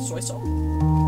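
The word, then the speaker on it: Soisong: The band is called Soy Song, as in like SOI song, but pronounced the same way as soy sauce because it's the originality.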